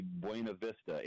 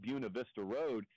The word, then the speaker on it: Buena Vista: Okay, so they've got a road that is spelled Beunavista road, which would be Buena Vista in every other walk of life. They just chose to pronounce it Buena Vista Road and call other people idiots when they pronounce it Buena.